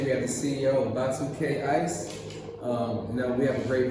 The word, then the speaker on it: Ba2Kay: So we were looking through the Wolof language and stuff, and we found Ba2Kay. So it's spelled B-A-A-T-A-Y U-U-K-A-Y. Okay. Right, Ba2Kay.